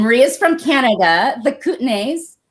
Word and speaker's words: Kootenays: Marie is from Canada, the Kootenays. Say it better for me. The Kootenays, yeah.